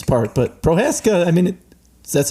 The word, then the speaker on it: Prohaska: So many people don't pronounce it correctly. What do you get? So I get Prohaska. I get House, like they add an H. I get like O's, like Prohoos or Prohaske.